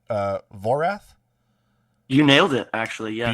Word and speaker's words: Voraath: one am i saying the name right uh vorath you nailed it actually yes beautiful usually i pronounce things wrong i mean it's a dice